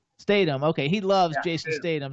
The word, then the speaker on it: Statham: How do you pronounce his last name? Statham.